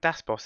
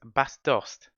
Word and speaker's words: Bas Dost: It's not Das Boss. It's Bas Dost.